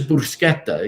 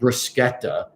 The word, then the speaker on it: bruschetta: hard pronunciation neither is bruschetta you know bruschetta you don't have to roll the r i mean you should roll the r so you could say bruschetta i mean that you're